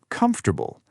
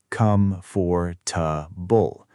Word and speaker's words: comfortable: give me examples comfortable many learners try to say come for tbull four equal pieces but natural English often sounds more like comfortable comfortable the stress is on the first part right interesting often